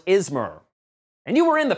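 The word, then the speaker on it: Izmer: It was not pronounced Ishmir in the first movie. It was Ismer.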